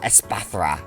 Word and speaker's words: Espathra: Espathra.